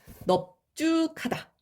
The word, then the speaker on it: 넙죽하다: 넙죽하다 이렇게 발음이 되고요.